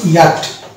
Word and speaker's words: yacht: এর অ্যাকচুয়াল উচ্চারণ হচ্ছে ইয়াট। এই যে ইয়াট হলো এখানে চ বাদ চলে গেল, সিএইচ বাদ চলে গেল, এই সিএইচ কে বলা হচ্ছে সাইলেন্ট লেটার।